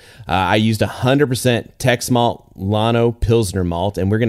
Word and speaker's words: Llano: I used 100% Tex malt, Llano Pilsner malt, and we're going to have some